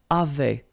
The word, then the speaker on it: avaient: And then you saw probably that we've got also here A-V-A-I-E-N-T, but then you pronounce it avait. So the same way as we pronounce here, okay?